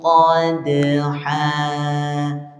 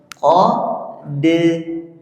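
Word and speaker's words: قَدْحًا: Fal muriyati qadha. Dalnya juga sama seperti tadi. Qadha. Tidak boleh diputus.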